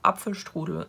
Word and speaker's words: Apfelstrudel: Traditionally, Apfelstrudel is, or Apfelstrudel as it is pronounced in German, is made with red